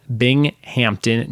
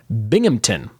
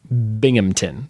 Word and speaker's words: Binghamton: your pronunciation was off locals don't pronounce the H it's all sort of slammed together like Binghamton Binghamton so he put B